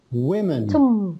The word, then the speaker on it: women: sort of like this okay yeah the b is silent and then the word women is very tricky women you see uh it's it's written like that